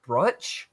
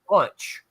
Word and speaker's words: Brunch: book this way, but I had been saying it wrong the whole time. And it's Mike Meyers brunch. Id missed the R the whole time and I'd been saying Mike Myers bunch, right?